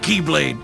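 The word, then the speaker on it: χ-blade: means the x blade it's just pronounced like keyblade even though it's just one keyblade ah the series is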